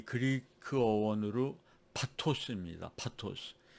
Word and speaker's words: pathos: 파토스. PATHOS죠. 그 영어로 읽으면 이제 페이소스라고 읽게 되는데, 페이소스가 바로 파토스입니다.